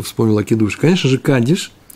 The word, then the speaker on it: кадиш: траур в это время они произносят кидуш кидуш я всё время Говорю давно я так говорю Нет кадиш конечно же это чувство ая пишет